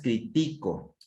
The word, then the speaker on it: critico: Aquí la forma correcta es critico, critico, verbo, critico, verbo. Si fuera crítico, persona, se convierte en persona. Es que esta persona es un crítico, ¿sí? Es una persona. Y critico es verbo.